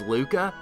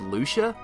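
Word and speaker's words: Lucca: because I know the the canonical pronunciation is Luca I for whatever reason when I was a kid I always said Lucia so that's how I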